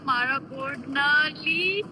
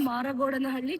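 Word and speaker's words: Maragodnahalli: Oh my God, you guys are pronouncing like this. It's a tongue twister. It's a tongue twister. People from Canada, that's how they pronounce. We are from India. No, Still yeah. pronounce it like that. I was expecting better from you guys. Okay, Sorry, Asha guys. Maragodnahally.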